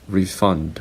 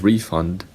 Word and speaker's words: refund: other words refund and refund so refund is a noun refund is a verb the same for this